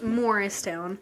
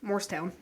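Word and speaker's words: Morristown: get irritated at how people pronounce morrist Town cuz it's morrist Town yeah but if you say it fast it's mortown or Mor toown like I've heard people just butcher it and I'm like it's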